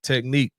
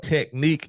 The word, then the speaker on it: Technik: Pure Technique, Pure. Yep. Technique is spelled TECHNIK.